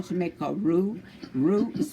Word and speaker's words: roux: That's what we're aiming for when we are doing our roux.